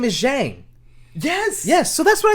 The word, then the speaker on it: Zhang: Her last name is Zhang.